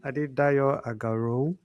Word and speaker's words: Adedayo Agarau: Hi, good morning, Adedayo Agarau. That's how he pronounced it then.